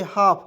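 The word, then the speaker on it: half: एच ए एल एफ इसे पढ़ेंगे हाफ हाल्फ नहीं पढ़ेंगे ठीक है हाफ मीस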